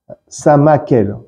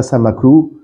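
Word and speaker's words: Samaël: Samakel. Pas Samaklou. Sama, Sama d'un côté et elle de l'autre.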